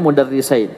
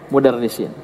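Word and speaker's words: مدرسين: Boleh kita baca ayat mudarrisin, cuman korina indikasi setelah ya kalimat ini itu menunjukkan bahwasanya mudarrisin dibacanya mudarrisain, bukan mudarrisin.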